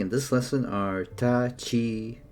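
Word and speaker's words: ち: Okay, first exception is chi, which starts with the ch instead of the t and adds a soft h sound.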